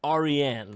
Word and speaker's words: Aryan: And it is a Persian name. It's pronounced Aryan. Persian. You see, Aryan.